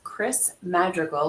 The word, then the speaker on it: Criss Madrigal: Today, we have with us Criss Madrigal. Am I pronouncing that correctly?